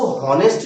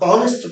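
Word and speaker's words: honest: इसी तरह एच ओ एन इ एस टी इसको होनेस्ट नहीं पढ़ते हैं। इसको हम ऑनेस्ट पढ़ते हैं। और जब हम ऑनेस्ट पढ़ते हैं एच को साइलेंट करके तब हम एन आर्टिकल लगा पाते हैं।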